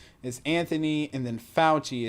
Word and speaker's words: Fauci: is anthony and then falchi it's not fatchy or some other weird